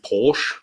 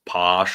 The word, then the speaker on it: Posh: Oh, Bobby C with 5 USD says, hello, Porsche, or Posh, which is how Americans say it, Posh. Which is why Andrew, and I still have not forgiven him for this, twice confused me, or at least my name, with Vosh, because it's Posh and Vash, and I